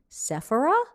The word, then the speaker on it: Sephora: America have shopped Sephora, which in America we say Sephora. I've learned that outside of America it seems to be Sephora, right? Sephora? What do you say? Sephora? Yep. That's like accent on the A?